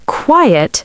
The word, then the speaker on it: quiet: So quiet has two syllables, qui, et, and quite has one syllable, quite.